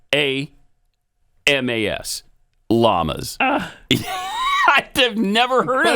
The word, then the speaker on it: Llamas: I don't want to he's Cuban descent so it's Tom yamas it's yamas don't you don't you